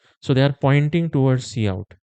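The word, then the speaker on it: cout: See out. See out is pronounced as see out not count or see out.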